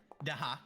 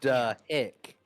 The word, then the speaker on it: Dahak: Gurm repeats it. Dahak. Duh, hick.